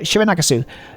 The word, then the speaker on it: Shironagasu: Shironagasu.